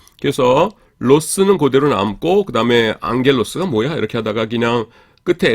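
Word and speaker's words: ἄγγελος: 어 감마 감마가 두 개가 나오죠. 요거는 이응 받침이 됩니다. 앞에 거는 하나가 어 그 우리나라 기역 발음 두 개가 합 합해지면은 이렇게 앞에 거가 이제 이응이 돼요. 그래서 앙겔로스 이렇게 됩니다.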